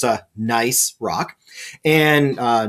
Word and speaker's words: gneiss: So here we have a rock called gneiss. The G is silent, so it's a gneiss rock. And gneiss is clearly foliated.